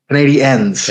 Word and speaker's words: Canadiens: You gotta go with the Canadiens. Is that how you say it? Canadiens. Canadiens. Canadiens. N. Ends. Yep, there you go.